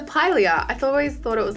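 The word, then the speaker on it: Pilea: third plan I got I just got the pronunciation it's a Pylea I've always thought it was like a holy hour play I don't know what's wrong with me but it's a Pylea they like these little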